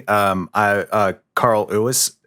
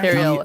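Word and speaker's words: Cary Elwes: Carl Lewis, is that how you say his name? Carrie Ellis. Yeah, Carrie Ellis.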